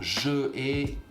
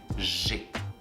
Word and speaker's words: j'ai: Je ai, it doesn't sound good. We prefer to say j'ai.